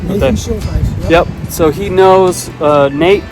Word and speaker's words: Schuldheiss: Right, Nathan Schuldheiss.